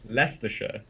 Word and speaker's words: Leicestershire: Yeah, because from how you spell it, because if you didn't speak English and you read that, you would not think it had that's how it's pronounced. Leicester or something like that, wouldn't Leicestershire. Like, no. It's pronounced so differently.